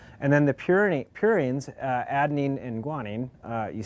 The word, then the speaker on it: purines: He wants to know did you find and forgive me as I pronounce this uh pyramidines or pyreines or other basic bu building blocks of life. Yeah. So I think it's purines and primitines.